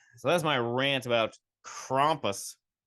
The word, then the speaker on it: Krampus: that's my rant about crompus is German so I'm sure it's pronounced crompus my accent sounds a